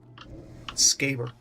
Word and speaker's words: Scaber: It's not pronounced scabber, because then it would be spelled with 2 B's. Scaber. Because that's how English work.